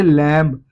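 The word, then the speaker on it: lamb: लेकिन बी एम के बाद लगने पे जैसे लैंप। लैंप को अगर आप पढ़ेंगे तो दोस्तों एम तक आवाज आएगी। बी इसमें साइलेंट है।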